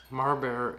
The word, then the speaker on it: Marbear: Marbear is Mar-bear.